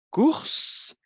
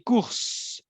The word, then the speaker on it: cours: Si je dis cours, ça veut dire que la consonne finale ne se prononce pas.